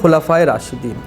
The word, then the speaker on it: خلفائے راشدین: اسی طرح سے ایک لفظ حنظلہ نے استعمال کیا تھا، خلفائے راشدین، تو یہ صحیح اس کا تلفظ ہے خلفائے راشدین، لام پر زبر ہے.